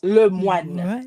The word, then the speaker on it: Lemoine: It's like the first part is like you were calling LeBron, so you do le. The middle, the moi, it's like you're throwing somebody a kiss, le moi, and then you put the N at the end, so it's le moine. So the French pronunciation. The E is silent. It is French. It's a French name.